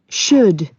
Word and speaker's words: should: Okay, if you carefully listen to this recording, the letter L is silent in should. So we don't pronounce L in this word.